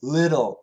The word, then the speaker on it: little: And it actually sounds like a D. D, little, little, dull, dull, dull, little, little. It's very close to a D sound.